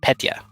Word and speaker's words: Petya: Yeah, it's Petya. I said it wrong.